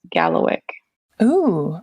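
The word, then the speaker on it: Kalawikk: a w i k k and it is pronounced Gallo o okay yeah so I made it really complicated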